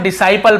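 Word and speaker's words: disciple: वैसे देखिए इसे हम डिसाइपल पढ़ते हैं।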